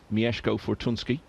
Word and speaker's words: Mieszko Fortunski: settle the question of exactly how you pronounce his name. So he's assured me it is Mieszko Fortunski.